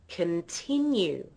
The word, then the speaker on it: continue: another listen continue now most non-native speakers say Con in the first syllable they say con they use the vow or and this is because that's how the word is spelled that's how it looks now have a listen to how I say it I say can continue m I make that first vow into a schw I make